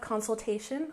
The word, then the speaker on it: consultation: Next, we have consultation with the main stress on the third syllable, consultation, consultation.